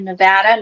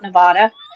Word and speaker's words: Nevada: I'm from New Jersey originally, and now I live in the great state of Nevada, not Nevada, for anybody who thinks they know how to pronounce it.